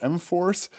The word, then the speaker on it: M4S: And then M-Force, M4S, but pronounced M-Force, is a relatively new research group here at the electronics department.